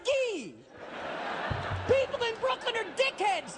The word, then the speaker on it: Gay: And it's supposed to be pronounced Guy.